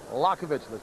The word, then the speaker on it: Liakhovich: against sergey yakovich and we're just going to pronounce it lakovich because his manager asked us to just stick with lokovic you can see that